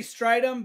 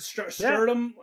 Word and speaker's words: Strydom: okl uh Oklahoma Omaha how do you say your last name like I always say strum but I've heard Strom yeah yeah it's just how they announc it it is strum that's correct okay straight so strium or